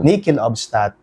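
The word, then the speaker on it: nihil obstat: nating nichel obstat o the correct pronunciation in Latin is nickel Nel nikel obstat it means nothing hinders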